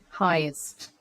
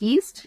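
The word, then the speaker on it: heist: is incorrectly spell if Romero identifies it is highest h e i s t is the word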